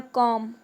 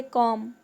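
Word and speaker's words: comb: कंघी को हम इंग्लिश में कहते हैं कॉम। यहाँ पर बी को हम साइलेंट करेंगे और हम पढ़ेंगे कॉम। कॉम।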